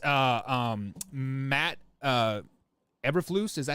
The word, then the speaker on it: Eberflus: Believe it's Matt Eberflus. Is that how you say his name? Eberflus. Eberflus, yeah.